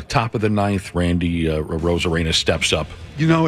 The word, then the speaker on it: Arozarena: Yep, Arozarena.